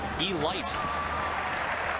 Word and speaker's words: Elite: And actually, we're told it's pronounced Elite as in Delight from back in the day.